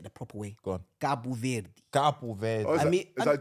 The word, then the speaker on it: Cabo Verde: I'm never saying Cape Verde in my life. Yeah, Cabo Verde. Yeah, Cabo Verde. Yeah, that's how you say it.